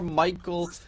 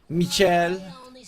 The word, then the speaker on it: Michel: underneath the tower got skewered in, and that is going to be first blood for Michael, or Michel, as he technically is supposed to be pronounced.